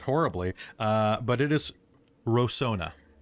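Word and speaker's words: Rosohna: the city was called before uh so he pronounced it horribly uh but it is rosona rosona of the so it was the crin capital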